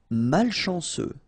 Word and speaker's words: malchanceux: Malchanceux. Final X not pronounced. C-E-U, ce.